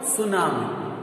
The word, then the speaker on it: tsunami: And then there is another natural disaster that is called tsunami. Tsunami. The word tsunami existed from Japan. It is a Japanese word and T is silent.